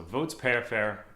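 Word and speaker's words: voatsiperifery: so they're vanilla cinnamon and a spice called votes pear fair so it's pronounced spelled v-o-a-t-s i p e r i f e r y so votes pair fair pepper um so for both votes peripher and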